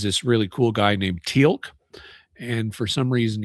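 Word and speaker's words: Teal'c: really cool guy named Tilk. And for some reason he's got an apostrophe in his name even though they don't pronounce it in any way.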